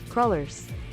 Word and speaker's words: cruller: What is the pronunciation? Cruel. Crullers.